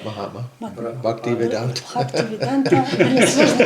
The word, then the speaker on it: Bhaktivedanta: Мат- Bhaktivedanta. Бхактивиданта, мне сложно произносить.